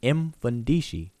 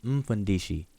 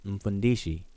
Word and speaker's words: Mfundishi: our elder Mfundishi, like, people will pronounce his name Mfundishi, but that's not how you pronounce that. If you hear Bantu speakers say the word, it's Mfundishi. You start with your mouth closed, Mfundishi.